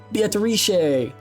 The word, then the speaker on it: Beatrice: Beatrice. Beatrice. And there's an O in there.